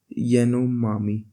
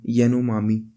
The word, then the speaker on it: Yanomami: Capo, और एक यानोमामी, YANOMAMI, यानोमामी।